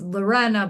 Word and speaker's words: Lorena: You know, it's Lorenna, but some people call me Lorena